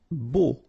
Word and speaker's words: beau: Beau. Okay, so remember we've got this strange combination of vowels, E, A, U, so three vowels, but then phonetically it's only O. Okay, so beau.